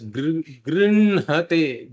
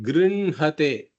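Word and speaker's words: गृह्णते: This word grinnate is pronounced as grinhate, grinhate. The nakara comes before the hakara. This is one of the rare examples in Sanskrit where the pronunciation, the preferred pronunciation, is different from the order of the aksharas.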